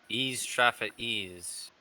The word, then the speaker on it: Ix Traffa Ix: That sounds French. Ease Traffa Ease. Okay, Ease Traffa Ease. Okay. That's how you pronounce it.